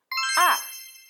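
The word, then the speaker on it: 二: Number 2 is R. R is the first tone. R. Imagine you are a parrot. When you're angry, you say R. You pronounce like R.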